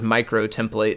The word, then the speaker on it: utemplate: presume it is probably, it's supposed to be pronounced as microtemplate. So the U is actually the U, like a special U, like for micro meters and liters and things like that.